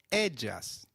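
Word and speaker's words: ellas: of a in Spanish Double L takes up the sound of Y in some areas and a soft J in others so you'll hear both Aya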